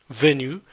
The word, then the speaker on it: venue: put an extra e you pronounce it the same way venue but with this extra e it just marks the